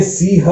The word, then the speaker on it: सिंह: ये सिंह है तो बिंदी लगा दी, सिंह होना चाहिए, लेकिन बिंदी के साथ उच्चारण ऐसा नहीं होता है तो सिंह बोलते हैं।